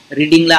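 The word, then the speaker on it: read: लागलेल being आणि त्यानंतर रीड च पास्ट पार्टिसिपल रूप रेडच आहे रीड असच स्पेलिंग आहे त्याच परंतु रेड अशा प्रकारे रेड या ठिकाणी आलेला आहे म्हणून आयम रीडिंग स्टोरी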